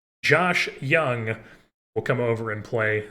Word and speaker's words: Jung: Or I keep calling him Jung because it says Jung. It looks like it's pronounced Jung, but I know it's Young. Josh Young will come over and play some platoon third base for us.